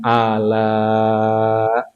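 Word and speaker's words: آلاء: Tapi kenapa di surat Ar-Rahman ini nikmat dengan menggunakan ala, bacanya panjang, mad wajib.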